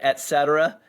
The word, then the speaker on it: et cetera: Well, I had 2 years of Latin in school, so I say it et cetera. So if you had Latin, you know et is and.